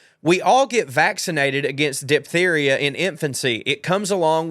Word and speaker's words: diphtheria: And no, we don't pronounce the H after the P, so diphtheria, okay.